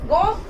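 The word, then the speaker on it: gomme: Okay, because it's gom, it is also gom. It is singular, still gom. It is plural, still gom. Singular and plural words have same pronunciation in French.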